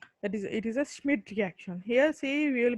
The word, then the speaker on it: Schmidt: That is, it is a Schmidt reaction.